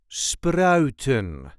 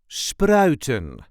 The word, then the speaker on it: spruiten: Sproutton. There is a light emphasis on the first syllable. Sproutton.